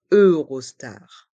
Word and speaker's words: Eurostar: le son un train et les voyelles e et U de Eurostar se prononce e Eurostar le train Eurostar le